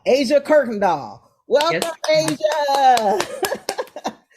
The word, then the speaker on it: Kuykendall: me with your last name how do you pronounce it Kirkendall Kirkendall Asia Kirk doll welcome Asia how are I'm doing real good